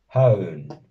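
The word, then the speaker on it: hawn: la otra, ojo aquí, no hay que pronunciar esta W con una W, sino Haun, Haun, ¿vale?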